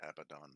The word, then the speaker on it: Abaddon: guys gotta find that i believe that's pronounced abadon by the way abaddon you could very